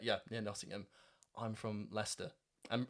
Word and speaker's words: Leicester: yeah Nottingham I'm from Leicester and Americans always pronounce it lychester I think I already